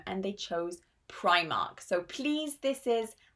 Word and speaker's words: Primark: So they had to change the name and they chose Primark. So please, this is I, Primark, Primark. So those are the most important British brands with more difficult pronunciation.